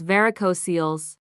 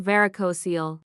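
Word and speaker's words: varicocele: The first is varicosils. And I'm sorry if I've pronounced that wrong my entire life. I just learned today that it's not varicosil, it's varicosil. I feel like I'm in school again.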